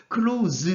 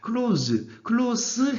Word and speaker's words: close: 그다음에 같은 단어로 쓰였지만은 품사에 따라 가지고 이렇게 발음이 달라지는 경우가 있어요. close 같은 경우에는요, 동사나 명사로 쓰일 경우입니다. close 해버리면은 형용사, 부사로 쓰일 경우가 됩니다.